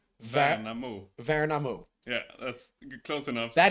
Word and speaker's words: Värnamo: Värnamo. Va- Värnamo. Värnamo. Yeah, that's close enough. That is not how I would have pronounced it.